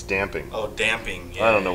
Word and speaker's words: damping: pronounced what is it i say dampening which is not right it's damp damping no it's damping oh damping i don't